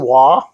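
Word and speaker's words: Waaagh: This is an Did you just pronounce the G in WA? Isn't it? Isn't it WOG? I think everybody pronounces it without the G. It's WA. See, I think that's how people say it. You're some kind of noob if you say WOG.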